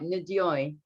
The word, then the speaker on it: Ndoye: Ndoye.